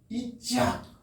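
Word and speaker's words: יצחק: 이게 잘 못 쓰겠는데 이짝 히브리어는 발음이 그래. 근데 한글로는 그냥 이삭이라고 부르는 이짝.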